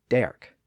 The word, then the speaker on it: dark: It included the word dark, previously pronounced derk.